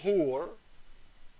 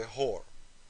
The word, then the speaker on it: hur: The Muslim man was promised 72 hur. Some people, they say it wrong, they say whore.